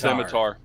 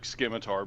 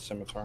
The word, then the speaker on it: scimitar: No, it's pronounced scimitar. The c is silent, but I know that I always pronounce it skimar because I think it sounds cooler.